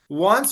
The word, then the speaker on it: once: better example of that once um okay it sounds similar want wants and once yeah yeah it's it